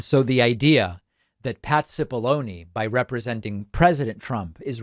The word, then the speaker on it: Cipollone: counsel, Pat Cipollone, which I last week was pronouncing Cipollone. People very politely corrected me, and they said it is actually only pronounced Cipollone.